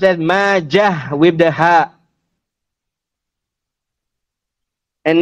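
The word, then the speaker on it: ماجه: Famously known as Ibn Majah, which means that the end of it is a heavy ha, Majah, and is not pronounced as Ibn Majata, which means that the end will be a ta marbutah.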